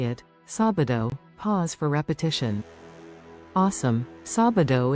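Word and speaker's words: sábado: sabido which is Saturday let's break it down sabado ready let's say it sabido pause for repetition awesome sabido is a fun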